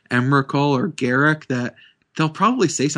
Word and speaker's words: Emrakul: Like, but I know everyone says Emrakul. That's just how it's pronounced.